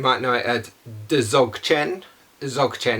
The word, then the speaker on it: Dzogchen: Dzogchen is how it's pronounced, but it's spelled D-Z-O-C-H-E-N, I think.